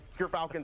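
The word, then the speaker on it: Gyrfalcon: we actually off screen we're figuring out how it's pronounced but G Falcons everyone so anyone who mispronounces it that's how you say it um doing that I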